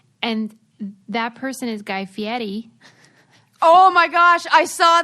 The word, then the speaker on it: Fieri: I love everything about Guy Fieri. You even pronounce his name so well.